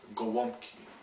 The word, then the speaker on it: Gołąbki: you how to make stuffed cabbage rolls or pronounced in Polish as Goki these roles are great are great to have